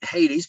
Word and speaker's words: Hades: The English will pronounce it Hades, but there's no H sound in Greek.